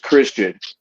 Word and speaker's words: Xtian: going to know that X TI is pronounced Christian and I bring more